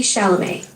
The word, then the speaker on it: Chalamet: It's a name, like the actor Timothy Chalamet.